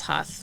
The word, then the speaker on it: Huth: maiden last name is huth but in german it's pronounced hoot so um i don't